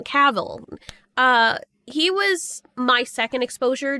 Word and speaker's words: Cavill: Cavill, sorry, I know people say I keep pronouncing his name wrong. Cavill.